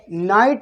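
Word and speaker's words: night: नाइट बोला है तो नाइट में हमारी जो जी ह आई है देखो बिल्कुल साइलेंट है हम बोल ही नहीं रहे हैं क्या बोल रहे हैं सिर्फ और सिर्फ बोले आई और टी नाइट वैसे इसमें आता क्या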